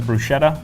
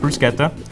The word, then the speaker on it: bruschetta: It's often mispronounced as bruschetta, but the fact is it will be pronounced bruschetta.